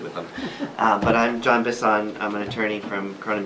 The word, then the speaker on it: Bisson: Bisson, B-I-S-S-O-N. I got it right. I'm probably the only person who pronounces it that way, so.